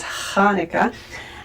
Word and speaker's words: Hanukkah: So that's why sometimes you'll see Hanukkah spelled with a ch, and sometimes you'll see Hanukkah spelled with an h. But it's Hanukkah, and in proper phonetic words, it's H with a dot under it.